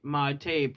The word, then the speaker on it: mate: Mate, pronounced mate, is the term traditionally used to describe the entire unit, which is the bombilla, gourd, and yerba.